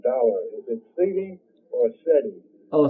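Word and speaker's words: cedi: I want to know, how do you pronounce the Ghanaian dollar? Is it CD or SETI? Oh, CD.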